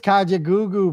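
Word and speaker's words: Kajagoogoo: Yes, it is Kajaoo, bro. What the far? Is that how you pronounce it? Kajaoo.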